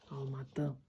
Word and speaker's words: Алматы: Поэтому нынешнее произношение слова алматы, алматы это более правильный вариант.